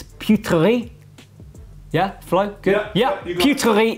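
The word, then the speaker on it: Peuterey: I always screw up the pronunciation, but it's Putri.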